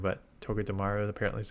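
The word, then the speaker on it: Togedemaru: always won toga dearu as someone's mentioned how you pronounce it properly I like saying to damaru but toga dearu apparently is how you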